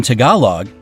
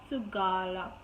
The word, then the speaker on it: Tagalog: So it's not Tagalog, like I pronounce it, it's Tagalog.